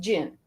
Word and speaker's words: Dzin: also Googled it, and it's pronounced Jin. Oh, like okay. Genie. Huh? Yeah, okay. Like a genie. So like Jin AI? Yeah, Jin AI. That was my first guess, actually. When I first saw it, that was my first thought. Like the Z is pronounced like a ZH or a French J.